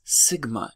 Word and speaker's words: sigma: We say that as sigma, and it represents the standard deviation of a population.